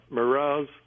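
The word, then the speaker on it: Meroz: Now, if Merez, and that's spelled M-E-R-O-Z, was a city, how could they fly up to heaven to help the Lord?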